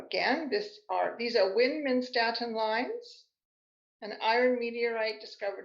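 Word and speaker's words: Widmanstätten: me these are called windmin statin lions named after the austrian scientist who first discovered them and if you were german speaking that would be pronounced vin menstruatin these lines are formed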